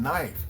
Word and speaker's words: knife: So silent letters like the letter K in knife. K N I F E. The K is completely silent.